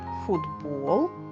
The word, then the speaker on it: футбол: Футбол. Пишемо літеру Т. Але не забуваємо, що перед наступним дзвінким Б, цей звук буде уподібнюватися, тобто одзвінчуватися. А значить вимовляємо звук д твердий.